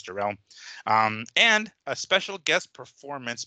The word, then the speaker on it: Jarrell: Again, pronunciation, I want to say it's Jarrell.